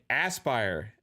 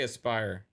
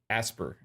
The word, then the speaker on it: Aspyr: say Aspire because I say Aspire or aspire I don't know I'll say I aspire to be great I'll say it like that i i s i aspire to be happy maybe it's a pronunciation thing you know what I mean um I'm I'm pretty sure it's not asper though um rwk88 to show